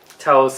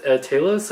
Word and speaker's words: Talos: But yeah, like Ben Mendelsohn, he plays Talos, or Talos? Yeah, it's not. I gotta remember because I remember watching the movie. It wasn't. They pronounced it differently than I thought it was. It's not Talos. It's Talos, I believe.